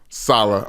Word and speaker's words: Saleh: You keep pronouncing it the right way the first time and then pronouncing it the wrong way the second time. It's Rob Saleh. Saleh.